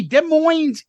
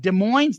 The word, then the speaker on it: Des Moines: love both listening to Soundboard at Des Moines the S is silent in 77 and your